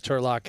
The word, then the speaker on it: Turlock: time he's got tens Turlock has king8 suited and for the chat wondering why we're saying Turlock well that's how you say his name we learned on break and turock has a hand